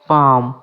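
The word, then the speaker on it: palm: এবার আমরা শিখবো এল সাইলেন্ট। পাম।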